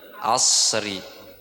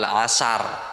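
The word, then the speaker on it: عصر: Salatul asri. Asr wal asr. Wal asr. Ya, bukan wal asar. Ngasar. Ngasar lagi. Habis itu ngasar.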